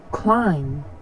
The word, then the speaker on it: climb: right now let's see where to not pronounce the b in English that debt crime climb comb comb tune thumb